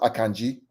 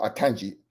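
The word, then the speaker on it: Aina: for you out there it's pronounced aangi not aangi aangi it's a Nigerian name uh Ty would bear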